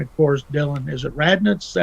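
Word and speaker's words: Radunz: And, of course, Dylan, is it Radnitz? Is that how you pronounce it? I think he'll work out a little bit better than Isaiah Wilson did. How do you pronounce it? Radens.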